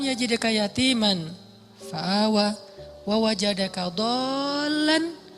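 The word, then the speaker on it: ضالا: Alam yajidaka yatiman fa'awa wa wajadaka dhallan dol. Kenapa dol itu kayak panjang bacanya? Karena sesat jauh gitu kan ya.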